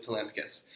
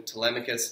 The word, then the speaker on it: Telemachus: being shared with with Telemachus and I am going to call him Telemachus not Telemachus or whatever other pronunciations you might have thought - so I guess